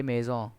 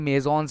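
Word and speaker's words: maisons: तो इसलिए एकदम आसान सा है, एकदम ले का ले मेज़ों, एस बोलते नहीं, मेज़ॉन्स नहीं बोलेंगे, आप मेज़ों बोलेंगे, एस को प्रोनाउंस नहीं करा जाता है।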